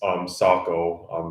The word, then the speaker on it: Saco: So in okay, it rhymes with taco. Okay, Saco Maine.